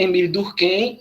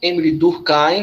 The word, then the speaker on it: Émile Durkheim: Esse é Émile Durkheim, Émile Durkheim, como vocês preferirem, as duas pronúncias estão corretas.